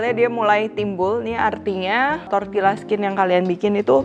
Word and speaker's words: tortilla: Kulit tortilla atau dibacanya tortilla ini asalnya dari Meksiko dengan bahan dasarnya tuh bisa macem-macem banget, mulai dari jagung, kacang, dan lain sebagainya.